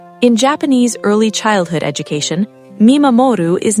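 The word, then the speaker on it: 見守る: The first concept you need to understand is called mimamoru, pronounced mee-ma-mo-roo.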